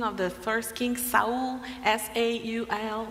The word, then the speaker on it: Saul: sa was Saul I don't know the the pronunciation of the first king sa s a u l right Saul thank you so Saul was persecuting